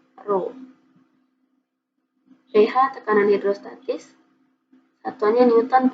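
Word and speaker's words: ρ: Ini bacanya Rho ya. Ini dibaca Rho.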